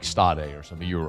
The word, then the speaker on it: Stade: It's Stade. Like you were totally wrong. Whatever you like you said like Stade or something.